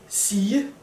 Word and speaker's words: sige: For example, in the word sige, to say, the G becomes a J sound.